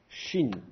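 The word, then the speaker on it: שין: Donc, il va falloir prendre l'habitude de repérer le petit point au-dessus du shin. Si c'est à droite, c'est un vrai shin, il faut prononcer che.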